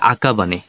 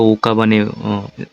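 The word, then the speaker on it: 赤羽: করো তো কি বলছে আকাবানে এর আগে আমি এটা ওকাবানে উচ্চারণ করছিলাম এটা হবে আকাবানে আকাবানে এরপর বলছে গোকাজুকুয়া এর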